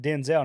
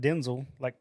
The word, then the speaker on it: Denzel: I also pronounce it Denzel, not Denzel.